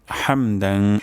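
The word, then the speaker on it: حَمْدًا: রব্বানা ওয়ালাকাল হামদ হামদান হামদান এখানে হাও হবে গলার মাঝখান থেকে উচ্চারণ হবে হামদান কাসিরং সা কাসি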